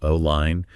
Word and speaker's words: align: Remember the silent G here, align.